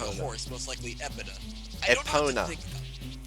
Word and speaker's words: Epona: Like I don't know what to think about Epida because he was riding a horse. Most likely Epida Epona.